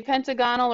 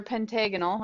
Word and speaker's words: pentagonal: it is called a you can either say pentagonal or pentagonal I've heard it pronounced both ways but still the same